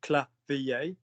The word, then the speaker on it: clavier: So go syllable by syllable. So if it's clavier, is it cla or clo? Cla. So take it high then. Cla. Cla. Lovely. Now, what about the second syllable? Is it the or the? V. That's it. So Clavier. clavier, vibration, clavier.